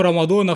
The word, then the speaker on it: رمضان: يعني وهو كرتون رمضان وايوه انا ما نطقتش الاسم غلط ولا حاجه هو اسمه رمضان فعلا طبعا واضح جدا ان